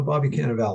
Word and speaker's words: Cannavale: I looked up the proper pronunciation, Bobby Cannavale. No, Bobby Cannavale.